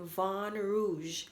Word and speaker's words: Vin Rouge: After you click on the search bar, you're going to type in Vin Rouge. I think it's French. It's pronounced Vin, but it's spelled VINROUGE, Vin Rouge.